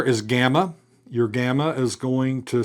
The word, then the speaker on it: gamma: So gamma is going to have a G pronunciation is in got or get or go, except when it is before a kappa, a chi, a xi, or another gamma.